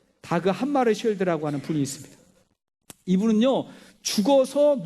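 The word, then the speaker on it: Dag Hammarskjöld: 제2대 유엔 사무총장을 지낸 다그 함마르쉘드라는 분이 있어요. 발음하기가 좀 어려웠어요. 이게 스웨덴어기 때문에 자꾸 닭 한 마리 자꾸 그렇게 발음이 돼요. 다그 함마르쉘드라고 하는 분이 있습니다.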